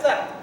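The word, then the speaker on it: सत्: If that Halan was not there, you say Sata. But Halan is there, so you say Sat. Tat Sat. Hari Om Tat Sat.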